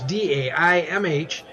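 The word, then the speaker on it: Daimh: band and I hope it's Dame it's pronounced it's Dai MH and they're at the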